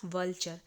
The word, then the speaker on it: vulture: तो यहां पे हो गया व्चर। ऐसे इसे प्रोनाउंस करेंगे।